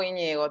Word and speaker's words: Íñigo: sé Íñigo es Íñigo Íñigo tu nombre porque siempre nunca sé cómo pronunciarlo lleva acento en la primera es Íñigo Claro vos sos De